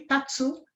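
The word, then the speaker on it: 立つ: E a pronúncia dele, tatsu, em pé, ele é um pictograma.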